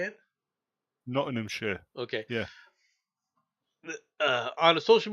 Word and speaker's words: Nottinghamshire: Nottinghamshire.